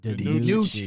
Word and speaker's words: DiNucci: of the 7th round, and I can't even pronounce his name. If somebody can help me with it, Ben DiNucci. DiNucci.